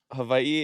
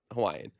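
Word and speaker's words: Hawaiʻi: I think Hawaii is just the English name, English way of saying havi.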